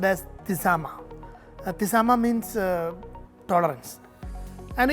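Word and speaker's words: تسامح: The word in Arabic is pronounced as tisama.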